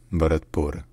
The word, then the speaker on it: Bharatpur: a UNESCO heritage site in Nepali the city is called batur batur batur all right if you